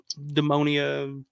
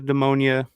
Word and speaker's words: Demonia: Yeah, I remember the first time hearing the Demonia. How do you pronounce it? I think it's Daemonia, Dae.